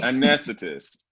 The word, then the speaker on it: anesthetist: Say the A. Anesthetist. There you go. Anesthetist.